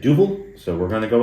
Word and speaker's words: Duvel: and I did look up the pronunciation it's pronounced both duel and duil but the Belgian lady that I saw on TV said duble so we're going to go with that it's